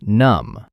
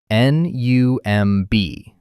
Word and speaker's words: numb: They do this to make your mouth numb. N u m b. The b is silent.